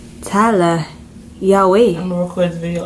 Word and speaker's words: Yaweh: It's pronounced Yaweh.